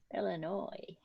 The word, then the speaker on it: Illinois: he was a little annoying no it's not pronounced still a noise illinois you're being silly now yes after a few